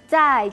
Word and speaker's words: 再: Otro ejemplo era zai jian, chao. Zai, esa Z que suena como TS, zai. Y jian, la J como una CH sin tanto aire. Zai, jian.